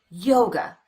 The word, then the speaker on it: yoga: or the uh sound same thing happens with the word yoga the second syllable is unstressed we replace the letter A with the unstressed vowel the uh sound and we get away from that syllable as